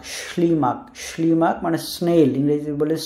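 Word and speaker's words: ślimak: আর একটা এস, কিন্তু এস এর উপরে রেফ, সো এইটার যে উচ্চারণ সেটা অনেকটা স, কিন্তু একটু টান দেওয়ার উচ্চারণ করে শি, শি।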